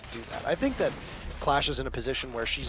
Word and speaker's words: Clash: alright CCTV cache this clash as it rhymes with cash huh class has been